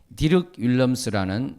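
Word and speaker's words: Dirk Willems: 사랑하는 성도 여러분, 16세기 종교개혁기에 디륵 윌럼스라는 네덜란드 크리스찬이셨습니다. 덜크 윌lem스라고도 하는데 저는 디륵 윌럼스, 그 네덜란드 사람들이 발음하는 대로 해보겠습니다.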